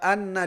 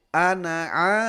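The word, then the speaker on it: أنا: Seharusnya tidak dibaca dengan wala anna, tidak ditahan. Karena di sana tidak ada tasdid, tidak ada gunnah pertama, kemudian kita bacanya pendek saja. Wala ana gitu seperti itu. Tidak anna tapi ana abidum.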